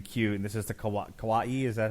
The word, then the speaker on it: kawaii: to make everything cute and this is the kawaii is that how it's pronounced yep this is the kawaii episode um my daughter thought this was great